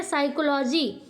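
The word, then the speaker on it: psychology: आपका यहां पे देखिए पी साइलेंट है इसलिए हम यस से पढ़ते हैं क्या पढ़ते हैं साइकोलॉजी अब यहां पे देखिए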